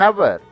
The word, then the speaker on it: hour: An is used before a silent H. For example, an hour, an honest man, an honorable man.